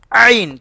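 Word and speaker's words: عين: ஐனுக்கும் உச்சரிப்பு வந்து வித்தியாசப்படணும் ஐன் தொண்டையிலிருந்து வரணும் ஐன் ஐன் சொல்லுங்க ஐன்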